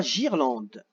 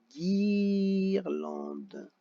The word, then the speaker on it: guirlande: Et le dernier, on veut guirlande. Comme c'est un I, si je mets seulement un G, ça fera girlande. Donc il faut que je rajoute le U pour marquer guirlande.